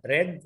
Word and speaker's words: read: الإجابة الصحيحة C لأن هو هنا read التصريف الثالث من read. Okay يبقى C تنطق read، هي بتتكتب زي read بالظبط لكن تنطق read في التصريف الثالث.